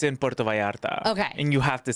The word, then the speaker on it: Puerto Vallarta: And so I'll just say it's in Puerto Vallarta.